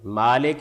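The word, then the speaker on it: مالك: مالک یوم الدین۔ اس میں دو طریقوں سے اس کو پڑھا ہے لوگوں نے، مالک یوم الدین اور ملک یوم الدین، یعنی یہ دو طریقوں سے اس کو پڑھا جاتا ہے۔ مالک یوم الدین میں آپ فرمائیں گے اس کیا فرق پڑا؟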